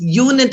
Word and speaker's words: unit: the word union unit begins with the letter u which is a vowel letter the sound is not a vowel sound its unit is ya sound y yeah yamani yeah